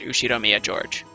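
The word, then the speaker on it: Ushiromiya George: knew she'd Omiya Jorge pronounced you she Romeo George he's five years older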